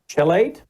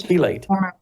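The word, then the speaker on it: chelate: Magnesium chilate. Yes, magnesium chilate. It's keate. I try to use phonics. It was ch. So I was trying my phonics.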